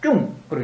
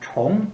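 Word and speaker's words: 重: 우리는 좀 중이라 했지만 중국 발음으로는 무겁다 할 때는 쭝으로 읽고, 거듭됐다 할 때는 총 읽어서 이제 다른데, 한국 발음으로는 그냥 이 차이가 안 나죠.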